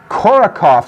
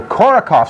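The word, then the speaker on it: Korotkoff: these sounds are called korokov sounds you typically do not pronounce the t there so korokov sounds and a couple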